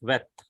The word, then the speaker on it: Vet: which gives a V sound, and that is Vet. That is Vet. This Vet also gives a V sound. So in modern Hebrew, there are two letters which gives a V sound, that is Vet also, and this one Wow also.